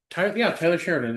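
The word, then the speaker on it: Taylor Sheridan: Oh, oh, for hell's sakes, I'm saying his name wrong. Tyler Sheridan.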